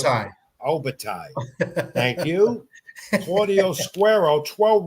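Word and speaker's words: Opetaia: on ESPN, in Australia, Jaya how do you pronounce it? Obatai.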